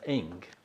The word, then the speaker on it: Ingres: by his name is Eng, Ingres. It's pronounced Eng.